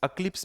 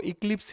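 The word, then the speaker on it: eclipse: अक्लिप्स भी बोलते हैं, इक्लिप्स भी बोलते हैं। आपको जो बोलना है बोलो। मैं तो दोनों प्रोनाउंसिएशन करूंगा क्योंकि हमारे टीचर ने हमको इक्लिप्स ही पढ़ाया था। लेकिन जब मैंने इसको Google पे सर्च किया तो वो अक्लिप्स बता रहा है। तो अक्लिप्स और एक्लिप्स दोनों का मतलब एक ही लेना। आप जो चाहे प्रोनाउंस कर सकते हो।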